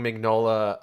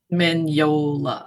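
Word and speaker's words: Mignola: pushed towards like having magnola um am I pronouncing that right by the way minola is it mola okay having minola um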